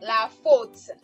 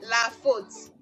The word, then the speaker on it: la faute: Okay, so we have AU to give us O in words like la faute. Okay, la faute.